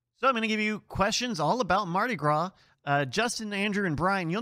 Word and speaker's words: Mardi Gras: Number one, incorrect. It's pronounced Mardi Gras. Mardi Gras? Where was the first official Mardi Gras celebration? Mardi Gras. Mardis Gras.